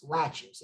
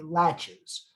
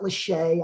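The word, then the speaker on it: laches: is called latches l-a-c-h-e-s latches it's pronounced just like a door latch but there's no t Okay latches um it's not Lachey I know some of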